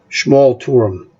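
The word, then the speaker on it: Schmalturm: Schmal Turum is how you pronounce that.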